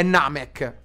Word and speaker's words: Namek: belli Ma la spada è quindi è Namek la pronuncia esatta Grazie Tia Grazie amico come Sharon o Shalom e Sayan invece di Sayan Sì è Sayan Queste sono le gli accenti esatti Vabbè ma raga fate